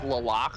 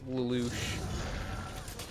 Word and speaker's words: Lelouch: No, that's not how you say his name. Stop it, Lelouch? Lelouch. Isn't it supposed to be like Lalak or something? Or It's Lelouch. yeah, that makes more sense. That sounds cooler too.